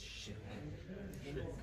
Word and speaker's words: shirk: And the word in Arabic is shirk. Shirk. Shirk. You would spell it S-H-I-R-K.